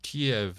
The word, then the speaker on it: Kiev: Kiev is how you pronounce it if you're Russian. Kev is how you pronounce it if you're Ukrainian.